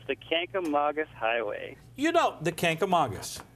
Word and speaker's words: Kancamagus: Right. Kancamagus. Kancamagus. Like Saugus.